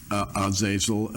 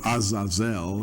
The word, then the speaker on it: Azazel: Well, J.R., one of the fallen angels was called Azazel or Azazel, it would be pronounced in the Hebrew.